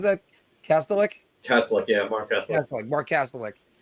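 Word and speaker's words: Kastelic: And how do I pronounce that? Kastelik? Kastelik, yeah, Marc Kastelik.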